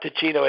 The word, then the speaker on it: Teeccino: So for those people out there who want to make a change, just check out Ticino. It's spelled Teeccino.